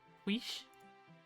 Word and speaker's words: quiche: Is that how you pronounce it? Quick? Quiche? I don't know. Cheese onion. Oh, that sounds so good. Quiche. Oh, quiche. Okay. That's interesting. Goes to show what I know. I completely butchered spelling, sounding that out. It's a silly French word.